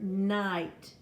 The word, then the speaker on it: night: You have the word night, N-I-G-H-T. The I-G-H makes a long I sound.